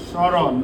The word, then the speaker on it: স্মরণ: দেখো, এখানে উচ্চারণে কিন্তু একটা ব্যতিক্রম আছে। আমরা একটা শব্দ লিখি তো। স্মরণ না, সম্মান না, স্মরণ। দেখো তো, এইখানে কি মর উচ্চারণ হয়েছে নাকি হয় নাই? কই হইল? স্মরণ, তাহলে হচ্ছে সমরণ। সমরণ হইতো না, তাহলে মর উচ্চারণ কিন্তু এখানে হয়নি।